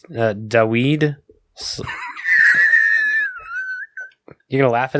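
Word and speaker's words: Dawid: But it's Daweed. You're going to laugh at his name? How do you spell it?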